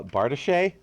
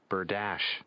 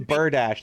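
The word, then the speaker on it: bardiche: wrong but weapons the bard or something uh bartiche i not in fact pronounce berdachi as i was led to believe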